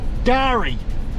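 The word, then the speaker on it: K'gari: We are on Garry with a silent K.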